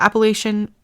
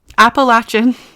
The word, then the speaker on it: Appalachian: The Appalachian I said it wrong. Appalachin Mountains um are home to dangerous critters.